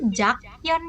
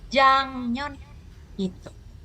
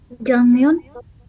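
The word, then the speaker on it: 작년: lalu apa Nuri Oke tulisannya sih jakon Ya tulisannya jakon tapi ingat ya dibacanya adalah Jang gu sekali lagi n tahun lalu apa jangun Oke Minggu lalu apa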